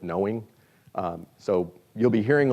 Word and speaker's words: KnowEng: They call it KnowEng, or actually I think they pronounce it knowing.